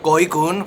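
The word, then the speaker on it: gỏi cuốn: Goonun. For $6. Very. All right. For $6, you can get these summer rolls. Goonun.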